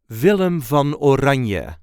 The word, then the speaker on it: Willem van Oranje: the correct pronunciation is villam Von or v v or there is a light emphasis on the first part of the first and second name villum V or vum